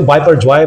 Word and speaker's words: Biparjoy: ये बेहतर जो है इंग्लिश में अगर हम उसको प्रोनाउंस करते हैं तो बाय पर जय मतलब करते हैं बेसिक के लिए बंगाली बांग्लादेश ने इसको तजवीज किया था तो अगर हम बंगाली एक्शन में इसको बोले तो यह बिफोर जय है